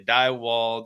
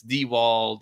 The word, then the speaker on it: Diewold: Some people say Diewald, some people say Dieworld, but it's Dewald, and maybe it doesn't matter.